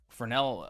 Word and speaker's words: Fresnel: How do you spell spell fel re nell? Yeah. But the s is silent.